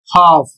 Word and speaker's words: half: दूसरा शब्द है एच ए एल एफ और इसका प्रोनंसिएशन होता है हाफ और इसकी मीनिंग आधा अगला शब्द है डब्ल्यू ए एल के और इसका उच्चारण होता है वॉक और इसकी हिंदी होती है चलना।